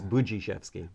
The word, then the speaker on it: Budziszewski: Since we're being taped, we better pronounce it right. Okay, all right. I was going to ask that. It's Budziszewski.